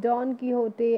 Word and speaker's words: Don Quixote: The first chapter name is Don Quixote and the Windmill. How will we pronounce this word?